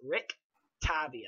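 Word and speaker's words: Rictavio: ta vio RIT Rotom it's exactly how it sounds Rick Tobby Oh yes he is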